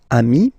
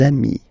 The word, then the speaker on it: amis: you will get des amis, okay? Des amis. So ami, remember, doesn't change. Even if you get to write the S, then you don't pronounce it.